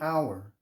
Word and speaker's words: hour: We say an hour because the H is silent, right?